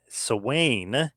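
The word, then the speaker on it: Samhain: You've got to remind everybody NWA Sawane, if you will, the Gaelic pronunciation. It's spelled Sam Hain, but that's the Gaelic pronunciation of it.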